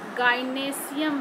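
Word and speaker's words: gynoecium: ये है कार्पेल, इसको हम लोग गाइनेशियम भी बोलते हैं, गाइनोएशियम ऐसे हम लोग स्पेलिंग लिखते हैं, गाइनेशियम बोलते हैं।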